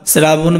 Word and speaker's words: শ্রাবণ: এখানে দেখো শ্রাবণ বানানে দেখো তালব্যস্য র ফলা আছে। আমরা জানি তালব্যস্য থাকলে তালব্যস্যই হয়, কিন্তু এখানে কি আছে? র ফলা আছে।